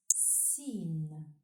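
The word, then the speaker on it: سين: The 12th letter is pronounced Sin and is written from right to left on the line. Sin, like in sun.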